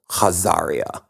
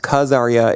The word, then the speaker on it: Khazaria: in an Empire called hazaria uh sometimes pronounced karya it starts with a KH we'll we'll do the H pronunciation here in this episode never heard of it